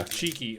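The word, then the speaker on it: Chiky: javi that he found it's called chicky it's pronounced cheeky but yeah cheeky okay cheeky okay yeah this is very popular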